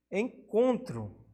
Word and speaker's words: encontro: Temos também encontro. O com, nesse caso, a mais forte, a tônica, paroxítona.